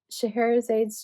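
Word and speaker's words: Scheherazade: This is Shahara's aid's dream.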